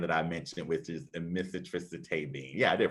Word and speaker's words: amitriptyline: that generic brand that I mentioned, which is amitriptyline. Yeah, I did pronounce that right.